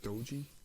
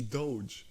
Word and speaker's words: doge: these uh the quick bites and that's the doji it's no shot you pronounce it doji dude it's not though she doge it's not dojo but there's e in there